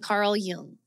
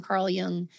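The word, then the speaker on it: Jung: some research go online Google Shadow work and Carl Yung or the Shadow and Carl Yung or Shadow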